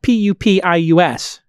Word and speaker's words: Pupius: Well, it's spelled P-U-P-I-U-S, Pupius.